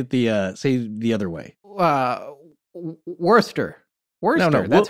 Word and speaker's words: Worcester: So Edward Kelly, or simply Kelly, was also known as Edward Talbot, and he was born in Worcester in August of 1555 and died in 1597 or 1598.